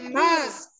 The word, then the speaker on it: mosque: Bacanya mosque. Bacanya mask. Bukan mask ya, ada W-nya, tetapi tidak dibaca jujur ya.